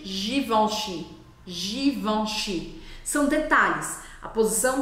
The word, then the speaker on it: Givenchy: Você baixa a língua e fica on, on, on, com água. Essa é a abertura de boca que você precisa fazer para você poder pronunciar corretamente Givenchy.